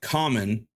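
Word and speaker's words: Kamen: man nor is it common riter or Cayman riter I don't know I'm not that deep into the the universe pronoun oh right here pronounced like common nor super centai would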